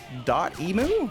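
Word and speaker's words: Dotemu: this switch i guess they're dot emu that's what they pronounced like the emulator site um don't know if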